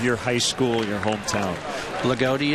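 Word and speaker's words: Loogootee: Lagodi, Indiana. Lagodi. It's Loogoote. Lagodi. You got it.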